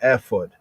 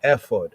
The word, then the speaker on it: ephod: Pronouncing it the ancient Hebrew, the ephod, almost sound like effort, right? But ephod, right?